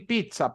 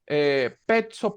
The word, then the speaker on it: pizza: petso pats O pizza y todas las palabras que van con doble cita en este caso va igual se pronuncia como que si la primera Z fuera una t y la segunda fuera una s Pizza pato petzo Esta